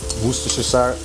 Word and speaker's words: Worcestershire: supposed to add a little bit of uh worcestershire and that's how you actually pronounce that you're supposed to add a little